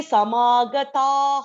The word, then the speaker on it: समागताः: Whenever there is a Dirgha Akshara, like in this example, Samagata followed by Visarga is there, right? So we will not say Samagata ha. That ha will not be pronounced fully. So it will be like Samagata. So you will just stop it there.